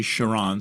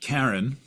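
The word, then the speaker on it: Charon: around it uh named Kiren Shon K Chiron something like that it's actually Chiron c h a r o n or depending I've heard it pronounced Karen uh but it's not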